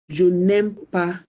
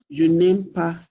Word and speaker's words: je n'aime pas: So they have to drop the e. So it becomes je n'aime pas la musique. Je n'aime pas la musique.